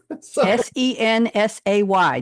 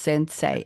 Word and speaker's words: Sensay: Sensay, just the way it's pronounced. Sensei, S-A-Y.